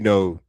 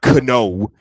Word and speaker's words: know: Y they can say future but they can't say beautiful like take the word no you know k n o w it's not cano the kite so yes I was taught